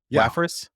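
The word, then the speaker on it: Wafris: into your new Venture waffas waffas yeah a lot of controversy on how to say the name but it's WAFF like web application fir wall plus reddis um and so the existing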